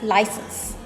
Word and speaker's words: license: A lot of people call this license or license. I don't know where this sh sound is coming from, but it is wrong. It should be pronounced as license.